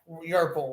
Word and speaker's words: Yerpel: It's Y. Yerpel, like purple with a Y.